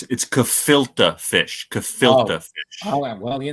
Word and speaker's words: gefilte: Gefilte fish. Oh, well, it's disgusting, but it's pronounced gefilte fish.